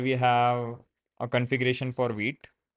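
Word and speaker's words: Vite: you can see so I used to pronounce this white for quite some time and then I realized it is wheat so that that is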